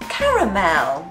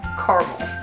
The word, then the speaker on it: caramel: Caramel. Caramel. There is an A in there, surely. Caramel. Caramel, right? There's no A when you're in America.